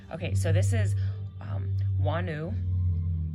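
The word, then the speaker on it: Wunjo: so this is um wanu or wano as some people like to pronounce her because the J technically is a y pronunciation in Norse um but wo this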